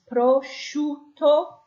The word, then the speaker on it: prosciutto: SCI sound followed by a vowel. Okay, so we're not pronouncing the I, but that is a sh sound. So what we have here is prosciutto cotto.